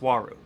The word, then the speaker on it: Uaru: U-A-R-U is pronounced waru.